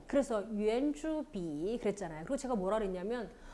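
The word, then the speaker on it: 圆: 어쨌든 발음 똑같아요. 성조도 똑같네요. 그렇죠? 유엔.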